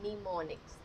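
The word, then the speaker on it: mnemonics: लिखे जाते थे जिनका नाम होता था नीम निमोनिक्स एम साइलेंट है।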